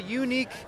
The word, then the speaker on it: Yuneec: is a called a unique uh typhoon H it's a hexacopter unique is spelled y u NE K by the way it's a Chinese based